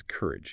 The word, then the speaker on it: courage: And the noun form is courage. Let's address the pronunciation quickly, as it is a common stumbling block. The word is courage. It is pronounced K-U-R-I. The first syllable rhymes with fur.